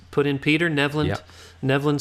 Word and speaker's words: Nevland: Nevland spelled like the land of Nev.